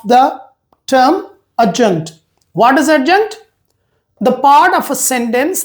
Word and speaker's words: adjunct: When we study sentence part, it is not add adjunct. It is adjunct. D is silent in this word.